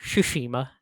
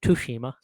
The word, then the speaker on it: Tsushima: yeah ghosts of Tsushima yes that's right it's pronounced Tsushima not to Hima yes drop the state of play during Summer